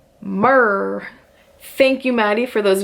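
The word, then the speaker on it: MMRR: is a new ride Mickey and Minnie's runaway railway apparently is mm RR pronounced mur Thank You Mady for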